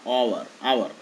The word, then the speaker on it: hour: Here H only, but H is silent there, okay. O sound is coming, hour. O is consonant, no? Hour, hour. A, I, O, U, hour. H is silent there, okay. This vowel sound only coming.